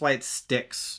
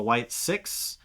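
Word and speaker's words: Wyatt Sicks: I pronounced this white sticks incorrectly when I announced it on the last podcast. It's a white six. Not s iix i. It's s i c ks.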